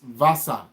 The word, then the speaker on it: Wasser: So W is being pronounced as V, is not pronounced as W. V is being pronounced as F, not as V.